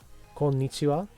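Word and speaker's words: こんにちは: Konnichiwa.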